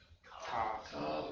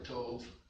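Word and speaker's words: ת: Tav or Tov.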